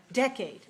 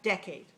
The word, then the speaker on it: decade: decades all right now where's the stress in this word decade decade first syllable all right the first syllable is big and the second is smaller now in this case the vowels are both clear but one of them is stronger that's the first one one of them is